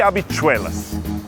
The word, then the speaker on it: habichuelas: No Caribe e em Nova York é arroz e habichuelas. Ah, e no espanhol de Nova York, muitas vezes o S e o Z não se pronunciam, tipo arroz e habichuela.